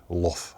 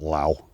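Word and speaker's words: Lough: That's Crag Luff. I think it's pronounced Luff, not Low.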